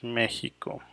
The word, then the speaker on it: Mexico: historic GP from Mexico Mexico that correct pronunciation is Mexico okay so here we